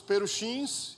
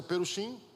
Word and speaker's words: perushim: Destacando-se os perushins, a pronúncia é perushim, que são os fariseus,